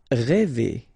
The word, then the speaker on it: rêver: Rêver, okay, accent circonflexe, so this accent on the top of E, okay, will produce the sound E, really open one, E, okay, so rêver.